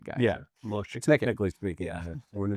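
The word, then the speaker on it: משה: since it's a Greek word, I don't get too fussy about how it's actually pronounced, right? It's not really Moses, it's Moshe.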